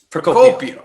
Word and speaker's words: Procopio: Procopio. Oh, it's a hard C there. Hard C.